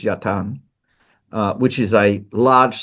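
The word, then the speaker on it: yatağan: Uh yapan is what we pronounce as yatagan but in modern Turkish is yatan.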